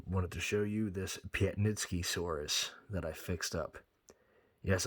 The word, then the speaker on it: Piatnitzkysaurus: and tonight I wanted to show you this Piet nitsky saurus that I fixed up yes I looked up how to pronounce it because at first I was pronouncing it planetsky but it's Piet nitsky Soros who the names these animals it ain't like